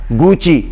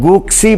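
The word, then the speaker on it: Gucci: फिर इसी तरह एक ब्रांड है गुची, जिसको लोग गुक्सी पढ़ते हैं हमारे यहाँ, तो वो भी इटालियन ब्रांड है, तो लिहाजा वो भी गुची है, वो गुक्सी नहीं है।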